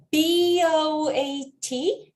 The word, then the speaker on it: boat: boat, B-O-A-T 또 담배 boat 할 때에도 첫 번째 모음은 장모음 O, 두 번째 A는 묵음 그래서 boat 될 거고요.